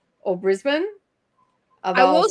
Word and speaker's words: Brisbane: It's not Brisbane either.